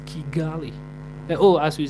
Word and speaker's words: Kigali: __ ] cuz in my book it says Kigali oh as we say Chu they they pronounce their K as CH nothing wrong with